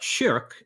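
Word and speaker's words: شرك: So the word shirk, written the same way but pronounced shirk in Arabic, means something like partner or associating a partner along with God.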